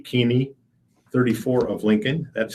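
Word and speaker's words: Keeney: the service memorials to City Impact in Lincoln keaney Mickey G keaney 34 of Lincoln that's spelled k-e-e-n-e-y passed away on July 26th memorials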